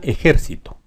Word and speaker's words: ejército: entonces aguda grave y esbrujula esbrujula ejército grave ejercito y aguda ejercito así como está escrita la palabra tiene la sílaba tónica en la penúltima por eso es grave las reglas son